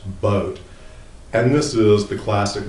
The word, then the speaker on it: Boot: the Dos boat uh please don't pronounce it boot it's pronounced boat and this is the